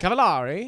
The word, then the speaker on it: Cavallari: and it's spelled it's cavalari well then I'm saying it correctly well then you have to put an accent on it cavalari all right there you